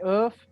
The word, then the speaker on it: œuf: La viande rouge, du bœuf, du poulet, du poisson et des œufs. Des œufs, pardon, c'est des œufs la prononciación.